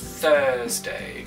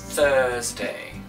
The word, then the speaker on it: Thursday: Thursday. Vous vous rappelez du chiffre 13, c'est le même son. Thursday.